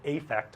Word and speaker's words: affect: Sometimes we use affect with an A and we pronounce it affect when we do that.